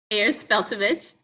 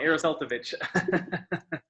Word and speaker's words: Ayers-Feltovich: I'm here with Ayers-Feltovich. Am I pronouncing that correctly? Ayers-Feltovich. I pronounced it completely wrong. Ayers-Feltovich.